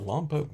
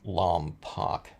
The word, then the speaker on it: Lompoc: title of this video lump pooke what I call it lump Oak memories or something I don't know and that's the long o by the way people don't like L poock but that's how everyone